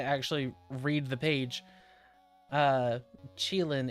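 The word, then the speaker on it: Qilin: Oh, Chile is the when I actually read the page, uh, Chilean is how you pronounce it.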